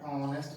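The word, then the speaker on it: honest: यू आर एन ऑनेस्ट girl. H यहाँ पे silent है, नहीं बोला जा रहा, ऑनेस्ट नहीं कह रहे हैं, तो ये एच साइलेंट है।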